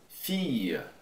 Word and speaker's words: fille: Quando tem esses dois L's, a maior parte das vezes se pronuncia como se fosse uma extensão do I.